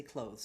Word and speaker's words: clothes: he like his fancy clothes but the word clothes has that voice th clothes clothes now if you were